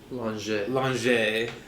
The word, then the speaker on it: Langeais: Duchess of Lon Lange as we've recently discovered the pronunciation actually or don't touch the axe or the great title.